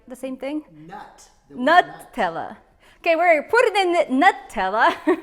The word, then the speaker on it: Nutella: One of my friends told me that I mispronounced Nutella. I usually say Nutella, but it's actually Nutella. But tomato, right? The same thing? Nutella.